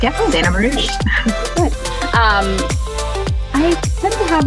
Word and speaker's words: Marruch: Today I have Zenia Marruch with me. Zeina, I hope I'm pronouncing your last name correctly. That is correct, yeah, Zenia Marruch.